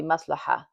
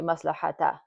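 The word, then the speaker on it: مصلحة: So, but when you're reading it, you don't really pronounce the ta. So in this case, it would be maslaha. You don't say maslahata or maslahatun.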